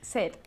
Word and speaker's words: said: Yesterday he said. Yesterday He said. he said. Remember that sound of the past of the verb to say. Said. Como tener sed.